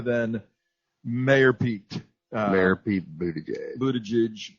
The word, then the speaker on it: Buttigieg: Mayor Pete Buttigieg. Buttigieg. Yeah, I mean Trump. One syllable, Trump. You can't mess up the name. Just go with Butt.